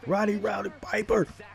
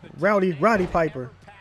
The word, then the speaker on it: Roddy Piper: go when we hear man against a legend rowdy rowdy Piper well did I say it right Rowdy Roddy Piper I'm a little remedial right now but there